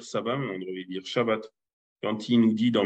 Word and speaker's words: Shabbat: le point non plus, donc on devrait dire shabbat au lieu de sabbat. Parce que le point, il est sur la branche de droite, donc sa prononciation est che.